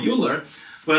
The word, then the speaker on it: Euler: So this is called the Euler-Lagrange equation, and I think it's pronounced Euler. I just like to say the term Euler, but yeah.